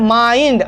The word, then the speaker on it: mind: माइंड, आई हो रहा है ना, आई आ रहा है ना।